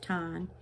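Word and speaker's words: Thanh: Now, here's a name, Tai Tan Tu, T-H-A-Y, Tai, T-H-A-N-H, Tan, and Tu, T-U, Tai Tan Tu. So when you see the T-H, it's pronounced as T, and when you see the T, it's pronounced as T.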